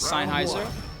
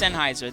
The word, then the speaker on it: Sennheiser: the fine folks at Sheiser. Sennheiser. Is it Sennheiser? Somebody was making fun of me earlier. Sennheiser. Is it Sheiser? I'm saying Sheiser. It's Sennheiser. That's the correct way to pronounce it.